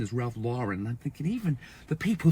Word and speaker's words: Ralph Lauren: is the correct pronunciation is Ralph Lauren.